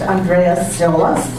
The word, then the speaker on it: Andreas Tziolas: I'm going to ask you if your name is pronounced Andreas Tziolas.